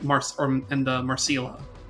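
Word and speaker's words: Marcille: up and the one I probably will never pronounce correctly the dub says Marcel that's Marcil that's not how you that Mar is it's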